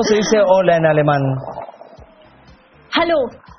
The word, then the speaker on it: Hallo: Hallo. Hallo. ¿Ah? Parecido al, al inglés.